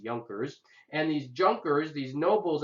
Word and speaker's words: Junkers: the nobles were called yonkers it's I know it looks like Junkers but it's pronounced yonkers and these Junkers these